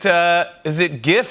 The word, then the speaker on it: GIF: Is it GIF or JIF? It's GIF. It is JIF, but it's GIF. You're right. It's GIF. But the guy who invented it said it's JIF.